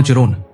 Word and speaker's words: Charon: और सबसे रहस्यमयी चंद्रमा चिरोन, जिसे शेरोन भी कहा जाता है। तो आप इसे अपनी इच्छानुसार उच्चारण कर सकते हैं। मैं इसके साथ जा रहा हूं।